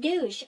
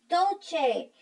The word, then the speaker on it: Dolce: She said douche. Obviously, she didn't know how to read the word, pronounce the word. It wasn't douche, it was Dolce.